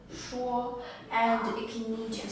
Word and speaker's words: 说: character is pronounced as Shuo, Shuo, and it can mean to speak or to explain, also to persuade.